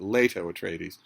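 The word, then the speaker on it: Leto Atreides: Duke Leo at trades you will hear uh dun bro there dud bro dun bro snobs uh who will will ostentatiously pronounce it leato at trates it doesn't really make a difference these characters don't in fact exist I I call him Duke Leo at tradies you're free to call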